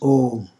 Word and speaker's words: Om: The first is A, the second is U, the third is A plus U will make O, and when the Anuswara is added to it, it becomes Om.